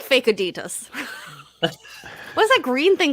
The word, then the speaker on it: Adidas: Fun fact: did you know that Adidas is pronounced Adidas? Really? Adidas? It's German. It's German. It's Adidas.